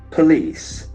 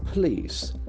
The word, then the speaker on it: police: terms of its pronunciation police police there are two celebrants police the accent force of second celebration police police police then